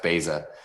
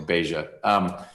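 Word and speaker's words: Baysah: It's spelled B-A-Y-S-A-H. I think it's pronounced Beza, or Beja.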